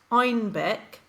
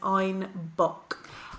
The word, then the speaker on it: Einbeck: By the 1600s, it was also being brewed in southern Germany, and the Bavarian accent pronounced Einbeck as Einbock.